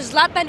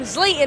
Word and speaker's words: Zlatan: Zlatan Ibrahimovic, and I asked a question about you.